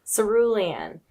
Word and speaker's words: Cerulean: just purchased how do you say it again cerulean cerulean who's the author oh yeah Amy Ewing that's